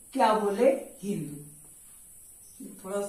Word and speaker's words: हिंद: याद रखिएगा, स का उच्चारण ह में और ध का उच्चारण द में। तो क्या हुआ भाई, अब इस तरीके से वे क्या बोले? हिंद। क्या बोल दिए? हिंद। यानी स को ह और ध को द।